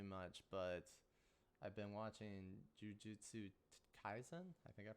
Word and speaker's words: Jujutsu Kaisen: I haven't really been watching too much, but I've been watching Jujutsu Kaisen. I think I pronounced that right.